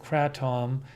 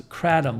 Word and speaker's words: kratom: how to pronounce it one of our viewers says it's pronounced tm says pronounce kratom like adam but crystalline says kratom